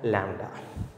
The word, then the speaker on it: lambda: This one pronounced as lambda.